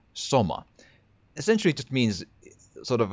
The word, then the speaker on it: soma: I haven't checked what it denotes in the context of the game, but in Finnish, in my language, the word SOMA, or as we pronounce that, SOMA, essentially just means sort of a cute or sweet, like a oh that's so cute.